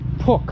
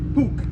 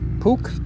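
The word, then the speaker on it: Puch: It's Poke, right? Puke. Pook.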